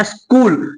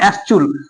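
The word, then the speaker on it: school: नहीं दिए होंगे यहां जो है ना एच साइलेंट है एच साइलेंट है अगर एच साइलेंट नहीं होता तो क्या निकलता है एस चूल निकलता है क्या निकलता है एस चूल यहां पे एच साइलेंट है और सी जो परशन है ना वो को निकल रहा है तो इसलिए पता क्या पढ़ते है एस्कूल नॉट एस चूल तो समझ गए क्या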